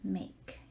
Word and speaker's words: make: sentence the verb is make and there is a silent e on the end of it and that makes the a that should be an a say a make with this verb we